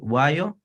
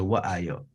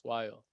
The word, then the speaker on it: Wayo: Is it Wayo or is it Wa'ayo? You said it right the first time. It's Wayo. Wayo.